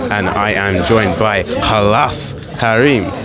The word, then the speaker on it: Khalass Karim: If you want to take it to the more Arab turn, it's Khalass Karim, but yeah, man, Khalass Karim for the people that don't know. Because I was hearing a lot of different pronunciations. The answer was saying Khalassus.